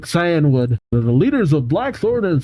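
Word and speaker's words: Cianwood: One of them has reportedly attacked the gym leaders of Blackthorn and Canewood City. Or Cyanwood? I don't actually remember how to pronounce that. Alright, looked it up real quick. Cyanwood.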